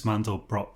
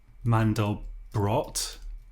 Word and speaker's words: Mandelbrot: So, um make man Mandel Mandelbrot. I'm pretty sure it is pronounced Mandelbrot and not Mandelbro, but I could be completely wrong.